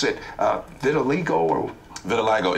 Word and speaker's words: vitiligo: I still can't pronounce it. Vitiligo or...